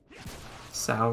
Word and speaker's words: Sao: Sao rhymes with how in this case, thank you.